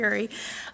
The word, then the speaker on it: Urey: Urey. Am I pronouncing that correctly? Yes. Harold C. Urey, with University of Chicago Press, which examines the